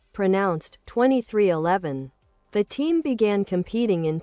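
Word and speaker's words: 23XI Racing: In 2020, he partnered with NBA legend Michael Jordan to create a new cup series organization, 2311 Racing, pronounced 2311.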